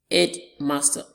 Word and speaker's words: headmaster: Take, for example, look at this word, headmaster. Headmaster. Our stress is on the first syllable.